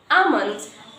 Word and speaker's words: almond: Because in this word almond, here this L is silent, okay?